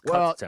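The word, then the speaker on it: Kutztown: Well, I may have been I may have mispronounced it. It's Cudstown.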